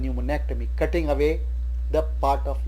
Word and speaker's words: pneumonectomy: Another example is pneumonectomy. The P is silent. We don't call it pneumonectomy, we call it pneumonectomy.